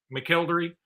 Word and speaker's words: McElderry: Now, let's go ahead and talk about McElderry, who committed the other day.